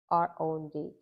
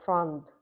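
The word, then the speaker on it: The Odd Frond: If you plan to buy a variegated pearly marks, and that's the Odd Fund, and it's spelled THEODDFROND. Oh, so it's frond, FROND.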